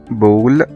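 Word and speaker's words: ball: طب تعالى ناخد امثلة كده على الكلام الجميل ده، مثلا زي ما قلنا من شوية كلمة بول، بول يعني كرة B A L L، هنا ال A اتنطقت O.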